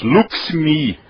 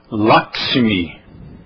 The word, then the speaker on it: Lakshmi: Então, pelo som, Lakshmi. Ah, mas então não é assim, é assim. Lakshmi. É assim que se escreve, Lakshmi.